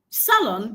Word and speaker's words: salon: noun, I understand that the stress has to come on the first syllable, and there I have my answer. I gave you two tips to get the answer here. One, salon is a disyllabic noun.